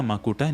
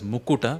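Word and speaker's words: मकुट: So there is a tendency to pronounce this as Mukuta. Mukuta is also a valid word actually. So there are these words which are slightly, interchanged in usual language. So one is Makuta versus Mukuta.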